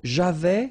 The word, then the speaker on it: avais: So, j'avais, final S not pronounced.